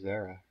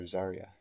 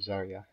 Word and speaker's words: Zarya: let us know well let's go look at Zara or zarya that's right zarya that's to pronounce that one Zar whoa how do I